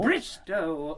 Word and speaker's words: Bristow: Bristol... Bristow, O, Bristow, rhymes with no.